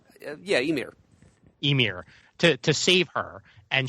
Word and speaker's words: Ymir: She prays to her father, the god, is it pronounced Ymir? Yeah, Ymir.